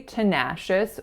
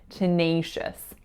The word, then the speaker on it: tenacious: it's really tricky because on that letter a very often we make an ass sound however in this particular word we do not say tenacious we say tenacious tenacious so that second syllable the winning syllable is making that diphthong eyes a sound tenacious and what is the